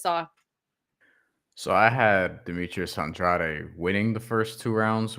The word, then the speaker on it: Andrade: that the me Andrade and I'm calling him Andrade because that's really how you pronounce that name people can say andreid on the broadcast but it's a it's Andrade we got into this on the show earlier